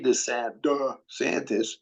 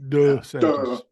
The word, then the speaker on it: DeSantis: We see DeSantis, Yeah. which is the correct way to pronounce it, by the way. DeSantis. DeSantis from now on, till time immemorial.